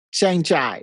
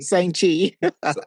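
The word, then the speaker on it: Shang-Chi: Shang Chai Shang Chi.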